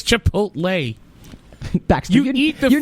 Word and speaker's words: Chipotle: Did I mispronounce that? Chakotay? Chakotay from Star Trek? Chipotle? It's Chipotle.